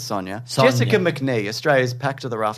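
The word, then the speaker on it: Sonya: It's Sonia.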